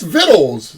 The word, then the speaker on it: victuals: yes and I spelled it for oh that's vittles you know vegetables from where it's spelled ritual yeah on the subject of dads